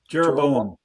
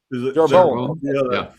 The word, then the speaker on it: Jeroboam: Jeroboam. Jeroboam. The Western Kansas accent. Okay, right. Okay. Well, I'll call him Yerovam, and that's the West Bank accent.